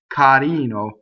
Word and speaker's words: carino: R's that are surrounded by vowels are not rolled. They're flipped. The way you flip an R is you get your tongue in the D position, carino, and you just flip it.